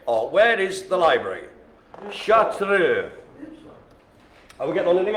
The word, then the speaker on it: Chartreux: So the next one, it's a dark little fella, and it's called the Chartreux, or Chartreux, if you're gonna just sort of read it the way it's spelt. Chartreux.